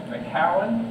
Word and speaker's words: McCowan: We got Ben McCowan from I learned McCowan's name wrong, by the way. This is a big joke between he and I. I have a friend, his last name is McGowan. So I've called him McGowan.